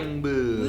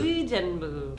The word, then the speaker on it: Uijeongbu: It's not a we, it's an It's like Uijeongbu. Uijeongbu. When it comes to taxis